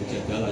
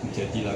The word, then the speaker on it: Mujadilah: ya coba surat mujadilahnya bacanya itu bukan mujadalah yang mujadilah karena itu imraatul mujadilah